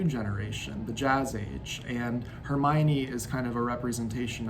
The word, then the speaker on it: Hermione: and german reading skills i was pronouncing hermione her mind in my head until it just clicked all of a sudden that no it's hermione and what hermione represents